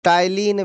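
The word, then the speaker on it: ptyalin: लार एलेज को ही टाइलिन भी कहते हैं स्पेलिंग उसका पी टाइलिन होता है पी उसका साइलेंट होता है पिटिया लीन होता है लिखा हुआ लेकिन उसको टाइलिन याद रखना है आई थिंक के सब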